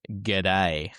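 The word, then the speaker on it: Guede: See, I thought it was pronounced G'day. And the only reason I heard it pronounced like that, and it just reminded me of the Aussie saying, hey, G'day, mate.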